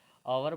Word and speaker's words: hour: ये सारे के सारे दोस्तों देखिए कॉन्सोनेंट से शुरू हो रहे हैं दोस्तों, और इनका जो प्रोनाउंसिएशन होगा वो अलग ही होगा। अभी बताते हैं। ये आपका आवर बोलता है, ये आपका एयर बोलता है दोस्तों,